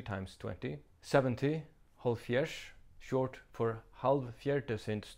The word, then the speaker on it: hálvfjerðs: 70, holfjers, short for halv fjerde sinds tyve, half fourth time 20, same logic as with 50.